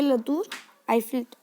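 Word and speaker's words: la tour Eiffel: Okay, लतूर आईफिल, टूर बोलेंगे, टावर टोर नहीं बोलेंगे, टूर, लतूर आईफिल।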